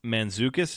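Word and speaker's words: Mantzoukas: right how did this get made Jason manukas manukas is that how you pronounce it yep okay cool which he's [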